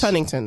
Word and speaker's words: Huntington: wait I totally forgot about this one what Huntington Huntington it's not hunting I'm not saying hunting Huntington it's not hunting it's just you're asking for too much it's Huntington it's Huntington please take out the tea double